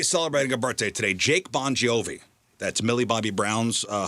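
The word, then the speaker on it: Bongiovi: Jake Boniovi. That's Millie Bobby Brown's uh husband and John Bonio's son. That's how you would say his name. Bonjiovi.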